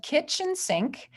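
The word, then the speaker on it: Kitsch Sync: group yes about it it's called kitchen sink which it's spelled k-i-t-s-c-h and sync is spelled s-y-n-c so it makes sense when you see it um it's just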